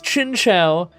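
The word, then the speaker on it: Chinchou: There's a bunch of videos on how to pronounce it. The first one says Chinchow. The second one says Chinshow. I'm going to say that it's Chinchow because I think it's supposed to be a Chinese name and you would say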